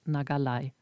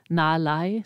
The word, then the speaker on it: nagalai: wird nicht ausgesprochen und die gekürzte Form heißt nagalai und manchmal wird sie auch sehr viel schneller ausgesprochen nai das G wird manchmal verschluckt und das kann den